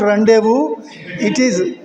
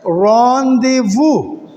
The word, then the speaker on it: rendezvous: Yes, but it is not rendezvous. It is a French word, rendezvous. Yes. Be careful of the pronunciation. This is a French word, rendezvous. Z. Rendezvous. Rendezvous.